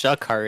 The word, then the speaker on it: Sha'karr: It's just like even worse because it's pronounced Sha'karr. It's like there's literally like apostrophe like in between Shook. the A and the K.